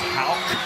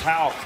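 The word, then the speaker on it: Haugh: And people watching the game say, wait a minute, his name is Houck. Like the K at the end, it's spelled H-A-U-G-H, but it's pronounced Houck.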